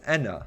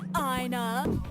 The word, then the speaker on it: Ena: I should note that Enna in Mercy's dialogue is in fact pronounced as Enna. Odds. Mooney throughout the series pronounces Enna's name incorrectly. Hey, Ina.